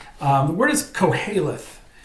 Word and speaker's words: Qoheleth: The word is Koheleth. It's spelled Qoheleth, Koheleth, and it's another name for the book of